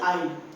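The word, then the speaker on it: aisle: अब स्पेलिंग तो उसकी ए आई एस एल इ है लेकिन आई में ए मिसिंग है। ठीक है? इसकी आवाज नहीं आती है।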